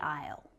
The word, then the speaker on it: aisle: was a ridiculous sentence there are three examples of a silent letter A in that sentence. Can you see them? Basically, we'd like bread to be rolled down the aisle. Basically. Bread. Aisle.